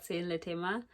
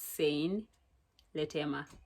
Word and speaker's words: Sein Letema: It's your girl Sein Letema. By the way, that is how you pronounce my name. It's Sein Letema.